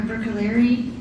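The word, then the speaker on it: Bruccoleri: Can you please state your name and spell it for the record? Sure. It's Dr. Brookaleri.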